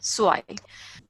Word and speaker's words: zwei: zwei. Yeah, Vaidehi, I got it. Zwei is correct. Okay, so Z sound is sir, W sound is ver, and EI is I. So zwei.